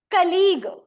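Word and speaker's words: colleague: अच्छा इस वर्ड में there are two letters that are silent. कौन से हैं? ए यू। ए और यू कलीग। सी ओ ओ की साउंड आ रही है।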